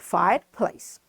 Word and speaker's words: fireplace: So this E at the end of this word is silent.